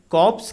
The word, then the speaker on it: corpse: Answer के sentence number 5 में कॉप्स की स्पेलिंग पर ध्यान दीजिए। CORPSE। यहाँ पर R फॉर राहुल साइलेंट है तथा इसका अर्थ होता है अ डेड बॉडी, अर्थात शव या लाश।